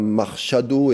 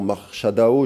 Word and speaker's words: Machado: Alors, encore quelques mots sur cette Madame Machado, et non Machado, je l'ai mal prononcé au début, c'est Marina Corina Machado.